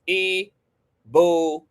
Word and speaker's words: Ibukun: Reed's new song, Ibukun. Okay. Pronounced E. Buon.